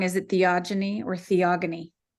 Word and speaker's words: Theogony: right otherwise we always use it as a hard G and not the soft G so um but in any case this is from the Greek and the Greek root would definitely use a hard G sound so it is theogony okay well I am